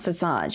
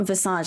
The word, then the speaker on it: visage: It's not Visage like a massage. Damn it, I wish it was though. Sounds more fancy. See what I mean? Visage, you know what I mean? But that's not how you say it. You say Visage.